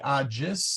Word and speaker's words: agis: This is a soft G, agis.